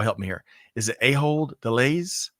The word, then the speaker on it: Ahold Delhaize: Is it Ahold Delhaize? Ahold Delhaize, but Ahold is sufficient.